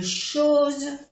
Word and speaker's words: choses: J'ai laissé une liste, dejé una lista de choses, de cosas, à côté de, al lado de, la lampe, la lámpara. J'ai j'ai laissé une liste de choses. No se pronuncia la S, que está de plural. Chose.